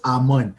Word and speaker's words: Amun: But I was like, no, it's Amun. So we'll have like almost a 40 to 50 second, thing where I'm having to explain it's and then that's it. Just 2 syllables. Don't try to add syllables to my name.